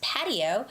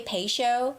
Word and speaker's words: patio: Yes, it's patio. Some people say pay show pay show, but both could both are fine.